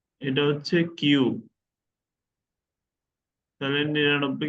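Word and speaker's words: はち: ও itchy নি সান ইয়ন গো রকু নানা হাচি রকু জু।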